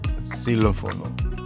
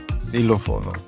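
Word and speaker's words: xilófono: possibly a th as silophono. Silopono silopono silopono. All right. So if x comes at the beginning of a word, it might be pronounced as an s as in silophono or tilophon depending on where you're at.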